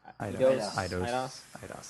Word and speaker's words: Eidos: Is that how you pronounce it? Eidos? Eidos.